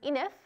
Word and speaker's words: Enif: this star called epsilon it's known as enif it rhymes with sniff we find a little